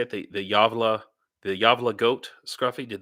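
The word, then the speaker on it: Gävle: some people say probably gavl or something but it's pronounced yava because the G is y in Swedish correct me if I'm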